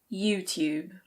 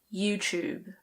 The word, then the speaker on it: YouTube: In British English this is pronounced YouTube. YouTube. But lots of people say it "you-chube", so the T becomes a "ch". YouTube. In American English it's usually YouTube. YouTube.